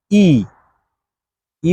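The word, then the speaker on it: 一: এক ইংরেজিতে ওয়ান আর চাইনিজে এটাকে বলে হচ্ছে ই আবার মনোযোগ দিয়ে শোনেন ই মানে হচ্ছে ওয়ান বা এক এরকম রেল লাইনের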